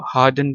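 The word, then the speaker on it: harden: पहुंचाना plot क्वगुलेट कंजील हार्डन jail अच्छा इसको हार्डन पढ़ना है। हार्डन आर जो है ना इसमें साइलेंट है।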